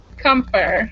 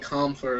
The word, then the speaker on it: Compher: with stay first have i been saying your last name correctly comfort i think you said it right i think i say like comfort or something like that i'm trying to sound